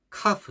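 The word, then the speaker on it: كاف: 이게 카프입니다. 카프는 약간 경쾌한 키역 소리입니다. 경쾌한 키역 소리. 그래서 카프 이런 식으로 하죠. 목적보다 조금 앞부분 연구개하고 목적 그 사이에서 나오는 이제 경쾌한 소리입니다. 카프 이런 소리죠.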